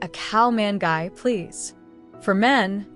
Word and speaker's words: ข้าวมันไก่: The answer is cow mangai. In English, cow manu in Thai cow. It's a gently flavored steamed chicken rice. Ordering phrase, I'd like a cow man guy, please.